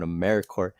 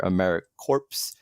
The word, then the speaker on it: AmeriCorps: of times you hear americorps uh keep in mind the p is very similar to americorps or marine corporate so the p is silent so once we got